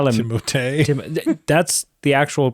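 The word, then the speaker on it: Timothée: Timote. That's the actual pronunciation of his name. Is it really? Yeah, because he's French. Okay. Like is it or it's a French? Yeah, it's Timote.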